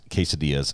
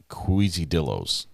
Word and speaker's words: quesadillas: Aussie an Aussie that pronounces quesadillas as queasy dillos yeah that's that's wrong DMB they're wrong that's